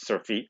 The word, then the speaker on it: surfeit: So surfeit, I pronounce it surfeit, S-U-R-F-E-I-T, tells thee how much, tells thee how,